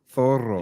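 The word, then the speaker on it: Zorro: movie is old oh Zoro Zoro yeah Zoro with TS that's how you say it Thor you pronounce the Z with a th th th th that's good thoro yeah thoro not bad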